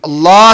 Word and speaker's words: اللہ: نزدیکی حاصل کرتا ہے۔ اللہ اللہ نہ کہا کرے، اللہ کہا کرے۔ اس کا صحیح تلفظ یہی ہے، اس کی صحیح پرونانسیشن یہی ہے، اللہ۔ اور ہر جگہ نہیں